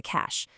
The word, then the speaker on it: cache: A squirrel hiding nuts for the winter has a cache. And be careful, it sounds just like cash, money, but it's spelled differently.